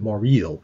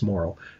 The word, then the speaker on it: Morrill: because in Tony's case, I wasn't sure whether it was Morrill or more of a French-Canadian pronunciation, Morrill. Okay. And he tells me it's Morrill.